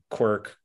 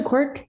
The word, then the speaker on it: Quirk: who ran against bill uh quirk uh am i pronouncing that incorrectly too no cork yeah okay uh in 2020